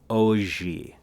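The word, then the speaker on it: hoje: i studied portuguese today the word for today is pronounced oh gee all right say that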